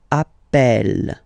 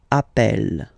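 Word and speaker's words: appelle: the pronunciation of uh you tend to pronounce it like e e really open that's the reason why you pronounce it Appel Appel okay Appel Appel Appel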